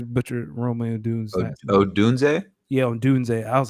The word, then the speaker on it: Odunze: Yeah, Odunze.